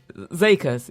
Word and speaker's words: zeker: Sorry, Zekers. You pronounce it Zeker, yeah, like a long E.